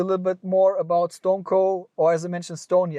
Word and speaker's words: StoneCo: as I mentioned Stony I will just call it stoneco for right now because I guess a lot of people in the Western World at least in Europe they pronounce it Stone Cold even if it's not right um I would keep it like this so stoneco and so what is